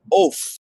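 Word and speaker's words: עוף: there is the Strong's Concordance 5775 which is pronounced oaf oaf it's the an oath is not defined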